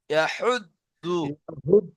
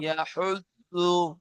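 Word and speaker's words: يحض: ওয়ালা ইয়াহুদ্দু। ওলা ইয়াহুদু না দ উচ্চারণ হবে না জ উচ্চারণ হবে, দুটির মাঝখান দিয়ে আওয়াজটি বার হয়ে আসবে।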